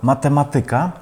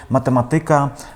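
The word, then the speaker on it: matematyka: То дійсно, і є такі слова, наприклад, математика. Багато поляків говорить математика, граматика, політика, музика, фізика, практика, Америка. Насправді там акцент у цих наголос у цих словах вони у більшості грецького походження падає на третю від кінця.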